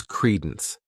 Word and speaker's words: credence: The next noun is credence. This word has two syllables and the stress is on that first syllable.